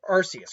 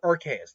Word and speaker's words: Arceus: said how it's pronounced is it archaic or arceus i think it's archaious because of um type nulls and sylval using the rks system i think that's what